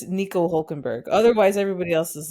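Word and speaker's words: Hülkenberg: Nico Hulkenberg.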